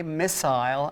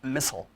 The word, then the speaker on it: missile: yeah, But so- nevertheless, we say missile and not missile.